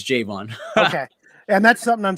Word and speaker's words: Jayevan: javon javon okay yeah jay in the city vaughn so when i used to play sports for a pronunciation key for the reporters and broadcasters that put j-a-y dash the city vaughn so then they know like it's jvonn okay and that's something